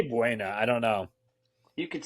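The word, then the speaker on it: Buona Beef: Now I believe they pronounce that bona, and my pops calls it boner beef, but that's I say Buena.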